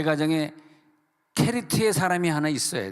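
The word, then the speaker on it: כְּרִית: 히브리어로 케리트. 이 케리트가 왜 케리트하고 그릿하고는 전혀 발음이 다른데 우리나라는 그냥 우리나라 발음에 한계가 있으니까 그냥 그릿이라 그랬어요.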